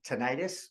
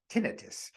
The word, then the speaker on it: tinnitus: does anyone you know suffer from tinnitus or could be pronounced tinnitus if you aren't familiar